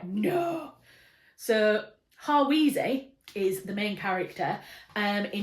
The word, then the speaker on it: Hawise: It's Hawise, and I always pronounced it Haywise because there was a character in a Elizabeth